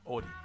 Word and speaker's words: Audie: So the correct pronunciation is Audie.